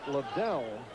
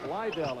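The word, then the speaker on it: Ledell: this season was called Liddell Eccles, and he has changed the pronunciation of his name, similar to your situation, changing from Andresi to Andre. It is now Lydell, as in Lydell Mitchell.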